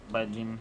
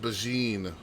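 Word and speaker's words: Baijini: By Gene. No, it's pronounced Bajine by that one developer.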